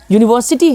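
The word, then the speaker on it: university: तो देखते हैं यहाँ पे यूनिवर्सिटी है, तो यूनिवर्सिटी इसका उच्चारण य से हो रहा है, य यूनिवर्सिटी, ये यू से उच्चारण हो रहा है इसका, यानी ये इसके साथ हम ए लगा देंगे।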